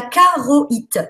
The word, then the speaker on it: charoïte: La pierre suivante, c'est la charoïte. Ça s'écrit charoïte, si les gens veulent le trouver sur Internet. Hein. Ça s'écrit charouat, si tu préfères, hein, parce que c'est un i tréma.